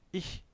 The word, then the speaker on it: ich: Il y a une prononciation assez spécifique du ich. Donc, c'est pas le che de cheval, chemise, chaleur, comme il fait en ce moment. Mais c'est un, c'est un, c'est un son assez, c'est un che, bien sûr, mais assez fin. C'est ich.